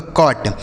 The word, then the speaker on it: cot: ठीक है, उसी तरीके से COT, सी से हो जाएगा आपका क, इस ओ का उच्चारण अ हो जाएगा, टी से बनेगा ट, यह लिखा आपका कॉट, COT कॉट हो गया।